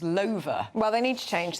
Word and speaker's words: Lover: Which is actually pronounced, I'm sorry to disappoint you, but it's pronounced Lover.